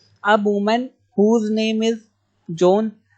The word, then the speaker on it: Joan: वुमन whose name is जॉन, वो आपको नहीं लिखना है। अब वुमन नेम्ड जॉन बेनोइट, आप पढ़ेंगे कैसे? JOAN, जॉन पढ़ते हैं, यहाँ पे ए साइलेंट रहता है।